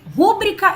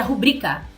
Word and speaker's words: rubrica: Eu, sinceramente, não entendo até hoje porque as pessoas falam rúbrica se é rubrica. A sílaba tônica, a sílaba forte, é o bri, nunca foi o ru. Então seria rubrica e não rúbrica.